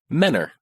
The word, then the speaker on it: Mentor: We pronounce it Menor.